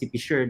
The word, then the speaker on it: PCIEERD: Here in DOST PCIEERD, that's how we pronounce the acronym of our agency.